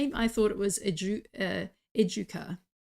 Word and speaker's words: Educa: So the way to pronounce it is Educa. I hear a Educa. lot of Educa. No, Educa. It's hard for our non-Spanish tongues to get wrapped around that. Educa. Well, SJ says that Educa rhymes with my hometown Paducah.